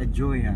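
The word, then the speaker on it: Ajoya: A Huya. A joya. made for a life for the Americans, pronounced a joya.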